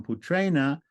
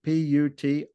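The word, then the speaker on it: पुत्रेण: instrumental singular becomes now why doesn't it just become putrena with a dental end why does that n at the end on the ending turn into a cerebral with a DOT under it because we have an r that comes before it see the r that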